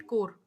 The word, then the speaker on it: Corps: Basic basic क्या होता है एनसीसी की फुल फॉर्म सबको पता है, नेशनल कैडेट कोर। इसकी स्पेलिंग होती है CORPS, पढ़ते हैं इसको कोर।